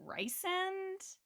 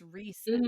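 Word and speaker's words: Rhysand: Like, I was definitely not saying Resand, I was saying Rysand, but it's Resand.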